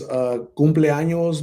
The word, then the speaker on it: cumpleaños: This is how you pronounce it. Cumpleaños.